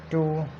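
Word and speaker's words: two: इन examples पे गौर करें तो W के बाद जब R आता है W साइलेंट हो जाता है, या W के बाद अगर कोई H आ जाता है तो भी W साइलेंट होता है।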